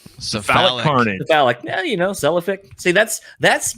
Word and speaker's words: Cephalic Carnage: Have a comment from Human Falafel on episode 217 with Celiphic Carnage. Am I saying that correctly? Cephalic Carnage.